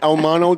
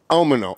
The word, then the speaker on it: Almono: Almono, did I say it right? That's it. well, almost. Almono. Almono, I apologize.